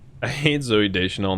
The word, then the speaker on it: Deschanel: wrong i hate zoe deschanel not da chanel not personally but for